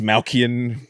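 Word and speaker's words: Dastmalchian: David Desmalchian. I could never pronounce his last name. That's David Dalmatian. David Dalmatian. That's Malkian.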